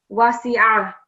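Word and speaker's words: وَسِعَ: Another thing is ayn is another thick letter, so make sure you're pronouncing it from your throat. Wasi'a.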